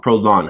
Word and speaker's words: Prolon: One I did was Prolon. It's great. Prolong. Prolon. Prolon. I spell that for us so I Yeah.